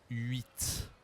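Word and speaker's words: huit: On prononce le T à la fin, mais il y a aussi une semoyelle.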